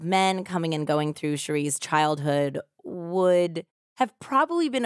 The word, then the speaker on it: Sharee: a woman known as Cherie Miller Sheree or Sherry I'm not quite sure we're gonna go with Cherie because it's s-h-a-r-e-e and I actually heard it pronounced two different ways and various things that